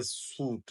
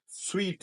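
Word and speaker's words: suite: रहा है कि यह सूट है वैसे दूसरा लज है एस यू आई टी वो सूट ही होता है लेकिन इसकी प्रोनंसिएशन स्वीट है स्वीट यह होटल वगैरह में कमरे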